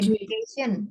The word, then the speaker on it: education: apa Kak kalau misalnya education education kan tulisannya pakai D Tapi bacanya bukan pakai D pakai j ya edation